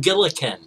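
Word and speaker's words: Gillikin: uh telling my teacher no it's pronounced gilin for you know there's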